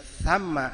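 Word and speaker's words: ثَمَّ: Kalau kita bacanya thumma artinya kemudian. Kalau dibaca thamma artinya di situ.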